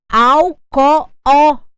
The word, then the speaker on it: alcoólico: são acentuadas só que quando eu escrevo alcoólico al co óo eu tenho cinco sílabas eu só posso acentuar até a anti penúltima alcoólico o meu assento será no segundo o da palavra o meu au se